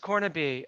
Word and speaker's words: Cornibe: Oh yeah, it's pronounced Cornibe.